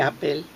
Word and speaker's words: Oppel: La A en húngaro se escribe O, una A media cerrada. Entonces, claro, cuando llegaron acá, como su apellido, Opel en vez de Apple.